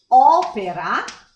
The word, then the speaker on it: opera: And then we have the open O, we have opera, the stress is on O, the first O, opera, como, and o.